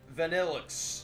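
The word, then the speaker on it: Vanillish: Now, you pronounced that right. Vanillix.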